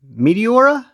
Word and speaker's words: Meteora: Again, the Kizer Meteora, and I say that because it's spelled Metora.